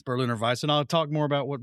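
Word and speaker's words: Berliner Weisse: This is This will rhyme because I'm gonna use the German pronunciation. Well, it's a Berlin or Visa, which is a style. It's called Merlin and Berlin. Merlin and Berlin. And it's Berlin or Vice.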